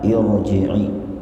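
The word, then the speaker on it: ارجعي: ya ayyatuhan nafsul Mutmainnah irjii dibaca kas roh hamzahnya irji tidak dibaca Ar tidak dibaca ur ya tapi irji'i irji'i adalah bentuk fi'il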